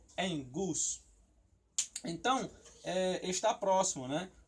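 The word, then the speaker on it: ἐγγύς: Mas quando tem dois gamas junto, o primeiro ele tem som de N e o segundo ele tem som de G normal, tá? Então por isso que você pronuncia em gus.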